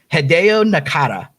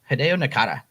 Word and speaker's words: Hideo Nakata: in the j horror scene happy birthday to hideo nakata did i say it right i think so yeah hideo nakata so i don't know exactly how old he